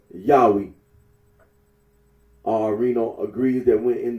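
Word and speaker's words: Yahweh: for the name yahwe the scholarly consens that the original pronunciation of the tetragram was yahwe arino agrees that when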